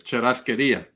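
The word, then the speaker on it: churrasquería: Oh, when they do the it's called I know how to say it because I'm Spanish. Churrasqueria.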